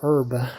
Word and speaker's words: herb: can be used for herb herb does anyone pronounce herb with the the herb herb any herbs out there Herbert dangle cabbages English people pronounce it with h why would they do